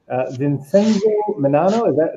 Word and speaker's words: Vincenzo Menanno: And our presenter for today is Vincenzo Menanno. Did I pronounce that correctly?